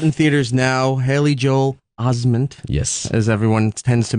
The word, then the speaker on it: Osment: Haley Joel Osment. Yes. As everyone tends to mispronounce.